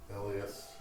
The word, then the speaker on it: Elias: It is pronounced Elias. Switches the iPad. I'm gonna make a note. Eely-ish. Accentuation on the E's.